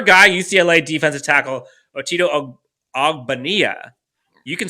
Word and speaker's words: Ogbonnia: Round 5 goes to your guy, UCLA defensive tackle, Otito Ogbonnia. You can say his name better than I can. You know him better than I do. It's Ogbonnia. It's just Ogbonnia. It's nice and simple.